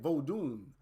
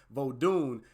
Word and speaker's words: Vodun: very interesting to me is actually vodin right vodun vun there I believe that's the pronunciation vodun and it comes from